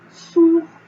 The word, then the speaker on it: sourd: Par exemple, sourd. Sourd, on n'entend pas le D à la fin. Et sourde, là on entend le D.